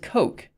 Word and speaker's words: Koch: Google how to pronounce how do you pronounce the name it's pronounced coke okay but I think this